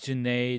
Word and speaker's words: Janae: question you asked well my name is janae this rhymes with lemonade and you might be